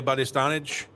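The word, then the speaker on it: Bastianich: Maybe Lydia Bistanage.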